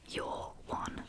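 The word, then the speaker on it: yer one: Okay, you're one. You're one. You're one. You're a one. You're a one. So that's spelled y e r and then a new word. One.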